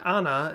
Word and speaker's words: Anne: probably already noticed that I have been saying Anna instead of the more common English pronunciation of Anne believe me no one was more surprised than I was to find out that that's how her name is spoken on the front at